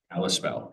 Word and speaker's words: Kalispell: Oh, Kalispell. Kalispell.